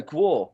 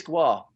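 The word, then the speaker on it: GWAR: So is that how it's pronounced, Guar? Because I always go Guar, so it is Guar. Well, I guess it's regional, you know, Guar, you know, it's really how you pronounce like your long A's.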